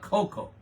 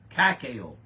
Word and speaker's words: cacao: you say coffee and caco not Coco cacao CAC ca ca oh